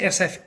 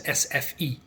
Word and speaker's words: SFI: attend SF as well I say SF because the swedes pronounce the I as an e so SF and uh but I'm